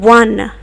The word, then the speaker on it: one: sound it makes in one. Okay, a 1 rupee note, a one-eyed monster. They start not just with the sound O, but they start with the sound W, which is a consonant.